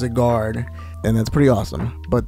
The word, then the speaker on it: Zygarde: Obviously, it's Zygarde, or Zygarde. However way you want to say his name, it is Zygarde, and that's pretty awesome.